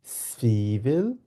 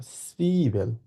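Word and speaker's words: Zwiebel: ডি সুইভেল, ডি সুইভেল, যেহেতু সেট আছে সেটটাকে এস এর মতো উচ্চারণ করবো, আর যেহেতু এখানে ডাব্লিউ আছে এটাকে আমরা ভে উচ্চারণ করি সাধারণত, কিন্তু এই তিনটে শব্দ এবং আই আর ই এই চারটা শব্দ মিলে একসাথে সি উচ্চারণ হয়েছে, সুইভেল, ঠিক আছে। সুইভেল বলবো আমরা, সুইভেল।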